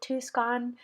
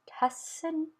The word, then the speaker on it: Tucson: I've always called it Tucson, Arizona, but I heard it's Tucson, so I hope I'm saying that right.